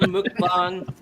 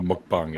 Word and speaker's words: mukbang: Yeah, so that's why it does sound like bong, right?